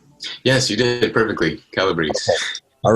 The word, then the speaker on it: Calabrese: nice to see you again and i did pronounce the name right yes you did it perfectly calabrese all right well it's been three years since